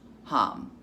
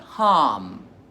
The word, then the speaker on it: HAM: So, our mantra for the day is hum, but it's spelled like ham. Ham, but hum.